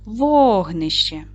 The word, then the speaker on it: вогнище: Падає наголос на перший склад. Вогнище.